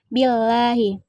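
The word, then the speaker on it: بِاللَّهِ: Yang ke-26, billahi. Hukumnya tarkik, karena lafaz Allah didahului oleh huruf hijaiyah berharakat kasrah. Cara membacanya tipis.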